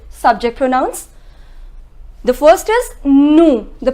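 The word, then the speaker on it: nous: pronouns the first is no the pronunciation is no will not pronounce the last consonant s okay so the meaning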